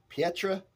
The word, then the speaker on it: Pietramerana: PIETRAMERANA. That's how I would say it in Italy.